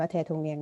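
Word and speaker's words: 대통령: ก็ คือ เททง เนี่ยง อ่าน ว่า แทธง เนียง นะ เขียน แทธง เรียง อ่าน แทธง เรียง ก็ คือ พูด ง่าย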